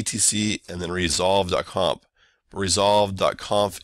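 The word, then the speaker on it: resolv.conf: and then resolve comp resolve Kampf is spelled without a trailing Yeun resolve so it's alright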